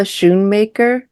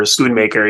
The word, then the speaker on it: Schoonmaker: Yeah, and it does make me think, I always say her name wrong. Thelma Schoonmaker. Oh, Thelma Schoon. Yeah, I think Schoon or Schoonmaker. Yeah, Scorsese's editor, Schoonmaker.